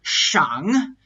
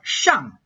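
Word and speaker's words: 上: i'm pronouncing the word shang the second tone category in a third tone and i'm not pronouncing it in a fourth tone like shang because that's the correct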